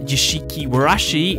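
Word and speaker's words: 屋敷わらし: Ghost Bell and Haunted Mansion, pronounced Yashiki Warashi in the Japanese.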